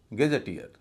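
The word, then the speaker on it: gazetteer: तो शब्द का उच्चारण होगा गैजेटियर, गैजेटियर न कि गजेटियर।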